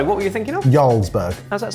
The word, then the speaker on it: Jarlsberg: Ysburg. How's that spelled? J A R L. Sorry. J. I completely apologize. In terms of its pronunciation, I didn't know it began with a J.